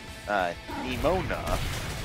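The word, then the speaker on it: Nemona: Yeah, I have a bit of trouble pronouncing her name, too. It's Nimona, but I still have a bit of a problem with her.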